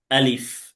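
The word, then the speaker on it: ا: আলিফ। আলিফ উচ্চারণ করতে হবে মুখের খালি জায়গা থেকে।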